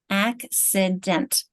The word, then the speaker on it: accident: So if we think about which is the strong syllable, accident, this is the strong one. This one's weak, and therefore it doesn't really play by its rules as far as its sound.